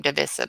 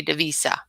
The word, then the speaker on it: Davissa: you say your name davissa because i always say the visa you just said it perfect it's like david and melissa okay so you talk